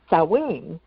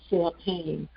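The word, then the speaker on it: Samhain: Halloween is is cowing. And there's a couple of other different pronunciations. And I remember, you know, when I was younger and I first saw the word, I I always said Sam Hayne.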